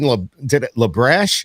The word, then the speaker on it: LaBrash: my new friend justin lebrash is that how you said it yeah it's spelt like it sounds okay i like it